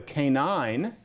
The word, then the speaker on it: canine: That would be better than making due with a "CA-nine." He says, "Don't say canine." It's not classy.